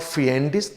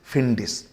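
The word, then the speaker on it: fiendish: Look at the pronunciation, it इज नॉट फिएंडिस, this is फिंडिस।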